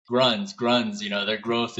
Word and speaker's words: Grüns: heard pronounce it over here is always like gruns. Gruns, you know, their growth is crazy, but now we know for a fact it is Gruns and uh it means greens in in the German language.